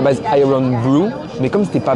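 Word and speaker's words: Irn-Bru: juste changé l'orthographe mais ça se prononca pareil donc iron IR O est devenu RN iron n blue BR W est devenu Bru genre pas mauvais bizarre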